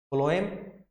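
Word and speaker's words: phloem: ऐसे फ्लोएम की spelling PHOLEM होती है, लेकिन अगर हम हिंदी में बात करें या बोलने की बात करें, इनकी जो साउंड प्रोड्यूस होती है फूड और फ्लोएम दोनों एफ से ही साउंड निकालते हैं।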